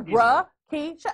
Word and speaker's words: Rakisha: Exactly, but you want to mess up my name is really, it's spelled just like it sounds. You could sound it out. Yeah, Rakisha.